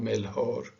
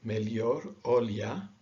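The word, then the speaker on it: melhor: y sound and so this word sounds like melior okay so it's not mel hor or any or like spanish melchor it's more like an i or a y mellior fairly straightforward because they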